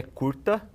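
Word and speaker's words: kurta: o nome dessa roupa aqui é curta então não se escreve como o nosso português então é k h u r t a aí a gente tem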